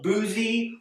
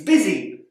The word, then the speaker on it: busy: sound that might expect instead it makes an i sound it's not boozy or Buzzy it's busy word here the O